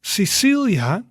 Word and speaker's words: Cecilia: a k route right but with sicilia cecilia you see then it's more the s sound is say say okay repeat after